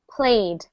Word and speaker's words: played: I played a game I don't add a syllable it's still one syllable played same with this one